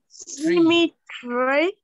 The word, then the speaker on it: symmetric: How many syllables are there? Four syllables. There are only three syllables in there. What are they? Symmetric. Oh, symmetric. Oh, okay.